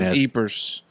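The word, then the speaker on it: Ypres: how you spelled his name but you just pronounced it Eve yeah the Y it's kind of like the Battle of eers in France like eers creepers yeers well ypr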